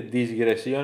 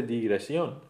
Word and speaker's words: digresión: En el segundo caso decimos, la gente que dice disgresión en vez de digresión tiene una explicación. La confusión ocurre con el prefijo dis.